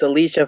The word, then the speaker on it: Alicia: last week, and the Alicia Fox segment was the half segment. Mhm. But this week it was a good segment. Bobby? You guys are saying her name wrong. It's Alicia Fox.